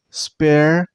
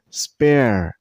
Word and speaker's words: sparrow: This name has 2 syllables, Sparrow. And while you pronounce this bird name, use the stress on the first syllable. I mean on Sparrow, Sparrow, not Sparrow. Don't stress on the second syllable. Stress on the first one.